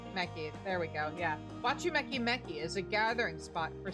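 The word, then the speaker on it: Wachumeqimeqi: Wakumeki Meki is a gathering spot. Why do I keep saying... It probably is spelled Wachumeki Meki. There we go, yeah. Wachumeki Meki is a gathering spot for skilled artisans of all kinds.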